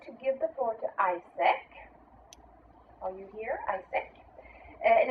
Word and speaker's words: AIESEC: ISEC, which is spelled AIESEC, is the world's largest student-based organization.